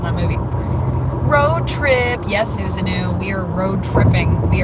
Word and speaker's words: Susanoo: I'm sorry I missed the reference, that I may have been pronouncing your name wrong this entire time. Susanoo? Susanoo.